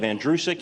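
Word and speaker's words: Andrucyk: in reality uh my the last name is pronounced like the boy's name Andrew who is sick you run it together you have andreusic it's that simple it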